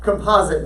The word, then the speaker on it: composite: say you Kirsten Falls it is a composite on Fosters on the second syllable composite number there we go